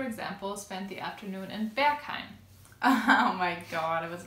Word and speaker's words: Berghain: But Berghain is how you say it.